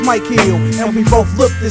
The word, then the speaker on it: Mykill: Your left slain, this pain has a first name, pronounced Mykill, and we both look the same.